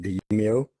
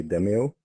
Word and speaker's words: Demeo: We decided we're gonna pronounce it Demeo. Some might say Demeo, but it should be Demeo.